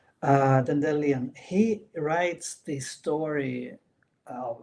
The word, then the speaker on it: Dandelion: Dendelion, you say, right? I usually say Dandelion, but I learned that that is the wrong pronunciation. Uh Dendelion, he writes the story of of your adventure.